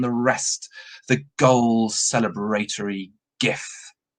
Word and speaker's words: GIF: the height of all living humanities zenith the gifts that keep giving now apparently it's supposed to be pronounced jiff but everybody that i know pronounces it gif